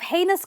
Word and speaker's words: heinous: was a heinous man he was convicted of heinous crimes against children okay that's heinous for you